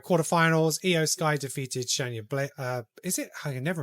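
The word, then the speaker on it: Baszler: Io Sky defeated Shayna Blazer. Is it? I can never remember how to spell that pronunciation. Shayna Blazer. Blazer. Blazer. Because I always want to say Blazer, but there's no L there.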